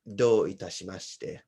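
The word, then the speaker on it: dou itashimashite: they would return by saying do itashimashite.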